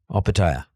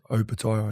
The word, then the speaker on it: Opetaia: Because a lot of people say Opetaia. And in your language, or in the Samoan language, O is pronounced O as opposed to O.